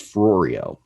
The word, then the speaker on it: Ferrario: name her name wrong her name rhymed with oreo her name was mrs ferrario very nice lady she